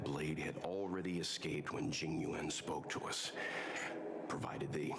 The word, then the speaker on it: Jing Yuan: I think we only scratched the surface of this General Jing Yuan. Genuine. Okay, so at least this is easier to pronounce than most. Genuine. I'm not saying it correctly, but it's pronounced like genuine.